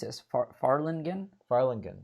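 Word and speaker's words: Fharlanghn: was a part of hearing how do I pronounce is Farland again Farland good Farland again yes they dwell are on the horizon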